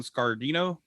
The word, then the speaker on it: Scardino: yeah they went with what's his name don scardino is how you pronounce his name mick i don't know i